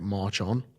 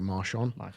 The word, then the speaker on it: Marchon: I remember at first I did it on a slant, because their kind of thing was to say it's like march on. So it was like, rather than how you pronounce it, like Marchon, Yeah.